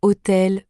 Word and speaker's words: hôtel: n'entend pas le N il y a aussi des lettres comme le H qui ne se prononce pas par exemple dans hôtel ou homme le H est silencieux cela peut surprendre mais